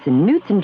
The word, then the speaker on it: Knutson: The K is silent, Adam. It's Knutson cheesecake dessert in a cup.